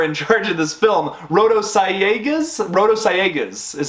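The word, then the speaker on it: Sayagues: names who are in charge of this film rotosciegas is how it's how it's pronounced there we go i'm really bad at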